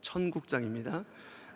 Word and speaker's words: 천국장: 13장을 보통은 천국장이라고 합니다 발음 잘 하셔야 됩니다 천국장입니다 갑자기 배가 고파지셔서 그 냄새를 상상하시면 안 됩니다 천국의 특징 그리고 천국을